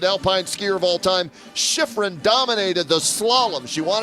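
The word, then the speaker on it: Shiffrin: Uh Michaela Shriff uh Shiffron is how you pronounce her last name.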